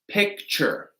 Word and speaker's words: picture: So this is going to be a CH sound. Picture. That P, that's the stressed syllable, right? Picture. Picture. That is going to be a CH sound, that ch.